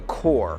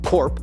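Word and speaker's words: corps: word is so basically I know how to pronounce core I just intentionally pronounced it wrong to help people who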